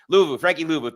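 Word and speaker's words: Frankie Luvu: 2 times Kyle, and I forget how to pronounce his name every time, but number 4, Frankie for the Commanders. Frankie Louvu, thank you.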